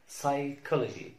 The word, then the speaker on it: psychology: لما نلاقي تركيبة بي اس او بي تي او بي ان في بداية الكلمة لا ننطق البي. لما نلاقي بي اس بي تي بي ان في بداية الكلمة لا ننطق البي. مثال على البي اس كلمة psychology psychology psychology.